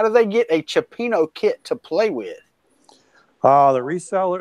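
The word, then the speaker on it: cioppino: And also, Chuck, somebody asked, how do they get a Chipino kit to play with?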